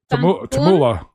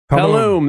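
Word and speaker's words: Tulum: Tam Tabula.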